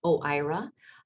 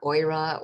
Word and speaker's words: OIRA: and regulatory affairs or as steve pronounced it oh ira and it's important to you'll hear a lot of different pronunciations so you can practice that it's not goira or i don't know